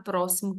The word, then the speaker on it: próximo: tem som de KS diferente da palavra próximo que o X tem som de s na segunda atividade nós